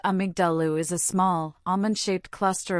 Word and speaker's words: amygdala: The amygdala, pronounced amygdalu, is a small almond-shaped cluster of neurons sitting deep inside the temporal lobe of your brain.